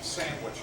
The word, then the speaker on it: sandwich: How do you say sandwich again? Sandwich. Sandwich or sandwich? No, there's no G, Tony.